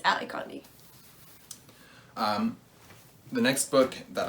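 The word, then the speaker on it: Ally Condie: talked about this and i did say her name was amy connie but it's not it's ali conde um the next book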